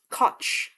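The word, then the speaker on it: Koch: Oh, it's cotch. Oh, okay. Sorry. One second. American politician. He served in the US House of Representatives from 1969 as mayor of New York City from 1978 to 89. K. Cotch was a lifelong democrat liberal with sanity.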